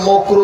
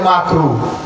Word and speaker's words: মাকরুহ: মানে চূড়ান্ত ইসলামের মধ্যে মকরু বলতে কিছু মকরু বুঝেন মানে মাকরুহ কথা বুঝেন নাই বলেন যে মকরু কি বলেন হুজুরে এই পরিমাণ জর্দার পান খাইছে হুজুরের জিহ্বা মোটা হয়ে গেছে মাকরুহ উচ্চারণ করতে পারে মকরু কথা বুঝছেন তার